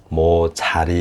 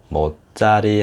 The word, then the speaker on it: 못자리: 아니라 나룻배 하고 나죠 이렇게 또 뭐죠 뭐 뭔데 자리가 뭐 자리 이렇게 나는게 아니라 못자리 하고 이렇게 말을 이렇게 첫소리가